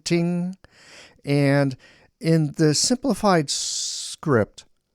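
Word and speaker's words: 听: In Chinese, it's pronounced ting, first tone, ting.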